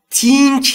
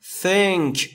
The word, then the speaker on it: think: تلفظ درستش think نیست، think. I think، آیش ای کوتاهه، یعنی بین ای و ای.